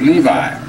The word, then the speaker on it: Levi: Golden Dawn, the French Magician, Eliphas Levi, E-L-I-P-H-A-S-L-E-V-I, pronounce it Levi.